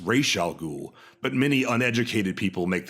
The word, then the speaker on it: Ra's al Ghul: will do it Terry Terry McGinnis calls him Ra's al Ghul it to Talia when Talia coos she looks